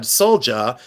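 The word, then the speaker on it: sølje: But I'm from Ohio, and I've always said Solja because it's Solje. They're Norwegian, they're silver, they're phenomenal.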